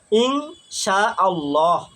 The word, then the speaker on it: ইনশাআল্লাহ: ইনশাআল্লাহ উচ্চারণটা, শুদ্ধ উচ্চারণটা হবে ইং, রস্বই আর অনিশ্বর, ইনশাআল্লাহ, ইনশাআল্লাহ আমি অমুক কাজটা করব।